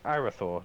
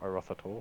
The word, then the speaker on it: Arauthator: It's Arathor, not Arothator. It's just Arathor. It's spelled Arauthator.